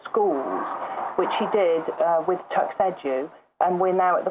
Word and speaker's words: TuxEdu: Well, can I just talk about first why I felt the need to create TuxEdu? Yeah. Yeah, sure. Your pronunciation there. TuxEdu, like tuxedo, rather than TuxEdu.